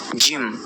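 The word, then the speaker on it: ج: জিমটি উচ্চারণ হবে জিহ্বার মধ্যভাগ, তার বরাবর ঠিক উপরে তালুর সঙ্গে লাগিয়ে, জিম জিম।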